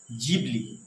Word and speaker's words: Ghibli: আজকাল আপনারা ইন্টারনেট খুললেই দেখতে পাবেন যে মানুষ নিজের ছবিকে গিবলি আর্টে রূপান্তরিত করছে। যার আসল উচ্চারণ জিবলি।